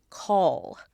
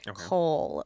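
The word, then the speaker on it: kohl: I am currently wearing is eyeliner specifically the Egyptian eyeliner which was called Cole. I'm going to make sure I pronounce it in the more like Egyptian way. Cole or Cole um K O H L.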